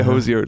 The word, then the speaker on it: Hozier: so it holds your Hosier um I would say this was a new one that's like newly coined uh but I would say Hozier like rhymes with Cozier yeah um it's amazing